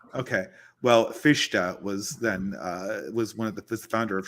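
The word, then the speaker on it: Fichte: founders of German naism careful you know fish fish it's fish I thought it was F no no okay well that's my that's my mispronunciation okay well fisha was then uh was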